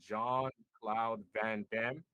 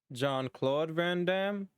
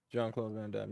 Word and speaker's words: Jean-Claude Van Damme: after the old school John Cloud Van Damme Jean-Claude Van Damme yeah okay you could you you know you you kind of butchered it while you're saying it you know but